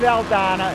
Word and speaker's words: Aldana: That's right, Dave Aldana is the proper pronunciation.